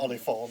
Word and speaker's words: Oliphant: But it's spelled like the way that That it's was spelt in Lord of the Rings. Almost. Just missing a Almost. U. Yeah. Oliphant.